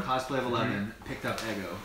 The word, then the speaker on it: Eggo: By the way, I used to call Ego all the time. I didn't know it was Eggo for the longest time.